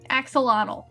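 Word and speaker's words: axolotl: you said it wrong but I've been practicing aelott Axel Axel Axel Axel aelott I'll get there anyway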